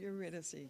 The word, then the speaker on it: Eurydice: Eurydice.